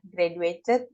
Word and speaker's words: graduate: Bentuk keduanya, graduated berarti dia bentuk kedua dari graduate. Graduate. Ini sebenarnya D-nya dibaca tuh J gitu, J.